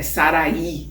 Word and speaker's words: Sarai: ela era sarai passa a ser Sara né sarai é sarí né Tem um umas umas umas nuances n nas pronúncias como Dev ser considerada no espiritismo a